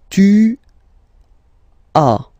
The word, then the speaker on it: tu as: Okay, second one, tu as, okay. As usual in French, final S is not pronounced.